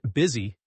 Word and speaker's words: BSY: The ticker choice was quintessentially Bentley. Pronounced busy.